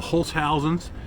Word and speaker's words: Holzhausens: This video is more about the Holzhausens that we have. Yes, that's the proper way to say it.